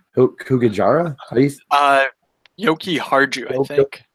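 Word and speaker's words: Jokiharju: Yoki Harju, I think. Harju, yes, that sounds way more right.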